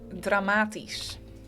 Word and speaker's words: dramatisch: So the Dutch word for dramatic is very close to the English one. It's dramatisch. Dramatisch. Pronounced differently, honestly, but it is pretty close.